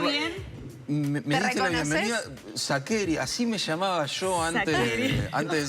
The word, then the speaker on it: Sacheri: Me diste la bienvenida, Sacheri, así me llamaba yo antes de ser escritor. Pasa que, como todo el mundo en Argentina lo dice Sacheri, ya está. Es antipático decir, no, perdón, se dice Sacheri.